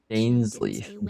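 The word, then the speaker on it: Dainsleif: But I suspect she means that there is still a way to turn Dansleaf. things around. Dainsleaf. Dankleaf. Correct pronunciation.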